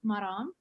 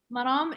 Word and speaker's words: Maram: way you like um maram is not maryam that's just a disclaimer and my name basically